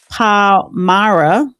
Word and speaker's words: Palmyra: attack occurred in the central Syrian town of Palmyra, U.S. forces were conducting what? I just gave the correct pronunciation.